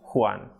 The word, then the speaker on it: Juan: J is called Jota and it is pronounced a bit strongly aspirated H. For example, like H. So examples in Spanish are jardín, ajo, Juan.